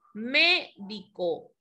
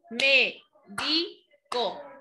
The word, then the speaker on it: médico: Nos dice llevan tilde siempre, como por ejemplo, médico, ¿verdad? ¿Cuántas sílabas tenemos? Médico. Son tres. ¿Cuál sería la última sílaba? Co. ¿Cuál es la penúltima? Di. ¿Cuál es la antepenúltima? Me. Ahí es donde se lleva la tilde, ¿correcto?